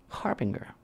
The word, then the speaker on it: harbinger: And it's a harbinger. Hard G or soft G? Harbinger. Harbinger. Hard G, hard G.